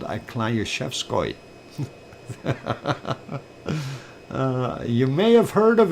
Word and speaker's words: Klyuchevskoy: What? Shevskoy? No, Klyushevskoy. It's spelled Klyuchevskoy. And that is a Klyushevskoy. In Russian.